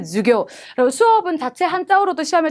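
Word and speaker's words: 授業: 수업이라고 할 때 주교. 그리고 수업은 자체 한자어로도 시험에 자주 등장하는데요. 숫자의 발음이 짧은 주 발음인 것도 봐두시고 손 숫자 붙어 있는 것도 놓치시면 안 되겠습니다.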